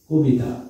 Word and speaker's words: কবিতা: কবিতা, কবিতার উচ্চারণ হবে তারপরে তা, কবিতা। এখন কো কেন হলো, এখানে ওকার কেন হলো? সহজ কথা, যদি ঠোঁট গোলাকৃতি হয় তাহলে ওকার দিতে হয়, কবিতা।